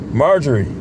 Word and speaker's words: Marjorie: Let's see how he pronounces her name. He got her name on the video. But Marjorie, that's how you say it.